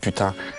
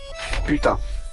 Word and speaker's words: putain: The best part of the voice acting was trying to make everybody say merde and putain.